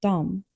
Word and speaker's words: de: Jag du han hon den det vi ni de Note that de is written as de, but often pronounced like dom in spoken Swedish.